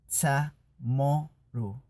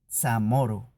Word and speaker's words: Chamorro: Piensa en la palabra chamorro, que es realmente pronunciado chamoru, chamoru.